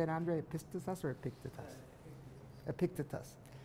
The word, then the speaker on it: Epictetus: Epictetus or Epictetus?